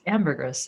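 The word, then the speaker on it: ambergris: So, so tell let's start just asking the obvious question which is what is amberers and am I pronouncing it correctly?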